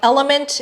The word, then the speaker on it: LMNT: this high quality electrolyte by Element. It is spelled LMNT, and specifically this box in the teal colored banner, it is called raw unflavored.